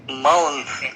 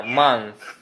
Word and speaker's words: month: Berarti month. Iya, jadi setelah N langsung digigit lidahnya. Month. Month. Iya, month. Betul, a month. Iya, jadi meskipun disuruh huruf O tapi dibacanya huruf A, ya.